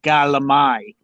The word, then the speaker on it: calamari: I'm Sicilian, so you say galamai.